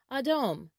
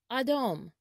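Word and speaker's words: אדום: colors is in hebrew the color red is pronounced adom adom adam or red is the zeva or color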